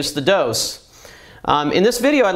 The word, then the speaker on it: DŌS: little double meaning uh it's dose because it obviously has two uh two pumps um and it doses your system so it does have a long o and uh we hope